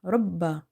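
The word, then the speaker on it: رَبَّ: So, again it means we have two bas here. One is silent or having sukun sign on top of it. And other one is having fatha. So, that's why we have to read ra ba fatha rabb ba fatha ba rabbah rabbah rabbah. Ra is heavy because of having fatha on top of it. And ba is twice, so we have to emphasize.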